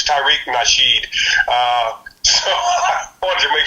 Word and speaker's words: Tariq Nasheed: I'm sure I got his name wrong. It's Tariq Nasheed.